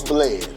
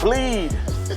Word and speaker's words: Bled: A lot of people, even though it's spelled B-L-E-D, a lot of people walk up on me and be like, bleed.